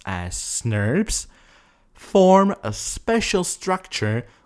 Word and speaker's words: snRNPs: with proteins called small nuclear ribonucleoproteins, snRNPs, often pronounced as SNRPs, form a special structure called spliceosome that is responsible for the process.